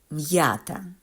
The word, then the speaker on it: м'ята: називається апостроф наприклад м'ята в цьому слові апостроф показує що приголосний м за яким він стоїть треба вимовляти твердо а букву я яка стоїть після нього треба читати як на початку слова я м'ята порівняємо буряк бур'ян в